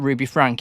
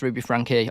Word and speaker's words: Ruby Franke: her name is not Ruby Frank, it's Ruby Franke. I've been saying it wrong for months. Yeah, I looked at that, and in no way did I think, oh, that's pronounced Frankie, until I watched the